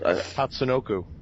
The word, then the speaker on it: Tatsunoko: Tatsunoko.